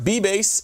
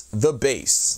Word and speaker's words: BBASE: It is not Bbase, it's the base. The first B is silent.